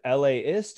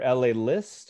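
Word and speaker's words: LAist: million times but d do you pronounce that la ist or la list or do you happen to know elias l-a-s it's like yeah it's usually like the city plus isp nys anyways new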